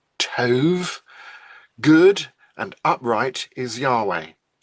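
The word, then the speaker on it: טוב: According to Psalm 25, verse 8, good, that is the Hebrew word taub, which is pronounced tov, good and upright is Yahweh.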